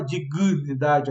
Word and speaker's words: dignidade: Dignidade, ó, ninguém fala dignidade, a gente acaba botando um I a mais depois do G ali, em dignidade.